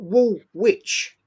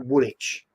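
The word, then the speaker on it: Woolwich: Wool Witch Arsenal. Witch, right? It's actually Woolitch, right?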